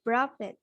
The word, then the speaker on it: proved: of years later, people proved it. People. People Chứ đọc là proved. Proved. Không có prove it nha con. Proved it. Proved. Proved kết thúc là âm d.